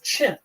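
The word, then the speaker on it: Qin: a new historical identity a people called the chin uh which in in the pinion system is spelled q i n uh the chin people now we'll hear a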